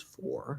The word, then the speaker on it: for: not the last word anywhere else in the sentence it can be pronounced as four especially if you have a reason to stress it for some weird reason usually it's not but it can come out as four that's fine but it will usually be pronounced as fur so the answer and